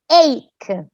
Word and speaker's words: ache: pronounced h it's pronounced ache the h is silent right so a backache